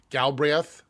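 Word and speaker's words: Galbraith: Galri, I can't ever pronounce that. Galbreth.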